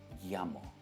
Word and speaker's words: Yammer: आता है और वो आर अगर एक वावल के पहले आता है, वावल्स क्या है, ए ई आई ओ यू, अगर वावल के पहले आता है तब मोस्ट ऑफ द केसेस में आप आर प्रोनाउंस नहीं करोगे। इट्स यामा। यामा, ये आप ध्यान रखिए।